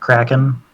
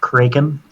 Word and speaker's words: Kraken: Also, I don't think it's pronounced Kraken. I think it's pronounced Kraken. At least in the original Scandinavian.